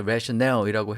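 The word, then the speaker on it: rationale: 특히 이 단어는 발음을 좀 주의할 필요가 있는데요. 뒤에 강세가 오죠. 그래서 rational이라고 해야 되고요. rational이나 reasoning이나 거의 같은 뜻으로 쓰인다, 이렇게 보시면 됩니다.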